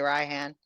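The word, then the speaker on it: Rioghn: name I cannot pronounce it's spelled r i o g h n I would say Ryan Ryan they call him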